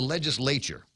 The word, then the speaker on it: legislature: to run by the legislature. And that is the correct pronunciation of it. Legislature. You got to put the right emphasis on the right syllable.